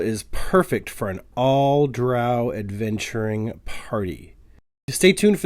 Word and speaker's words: drow: i think it r since drow rhymes with owl and the attitude of